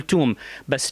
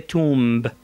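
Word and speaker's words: tomb: أحرف الأحرف اللثوية فبنقول توم، بس توم بالإنجليزي معناته قبر. أوكي، بس هلا أنا رح ألفظ اللفظ الخطأ، هي تومب، تومب. اللفظ الصح هو توم.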